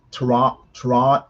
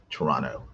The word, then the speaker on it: Toronto: And never pronounce the T in Toronto. A second T in Toronto. Well, you just pronounce it Toronto?